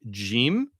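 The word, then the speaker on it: جيم: It corresponds to the Arabic jim.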